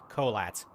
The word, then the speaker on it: Kholat: It is pronounced Collat.